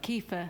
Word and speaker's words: kefir: of C yeah it's I say it wrong I think it's on Old habit but kefir ke um I think